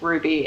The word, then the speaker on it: RWBY: Yeah, it's so it's RWBY, but I think it's pronounced Ruby, and it's an anime series, and it's fucking so tits.